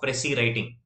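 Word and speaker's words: précis: So one art that we need to really learn is the art of pressy writing. S is silent, right? Pressy writing.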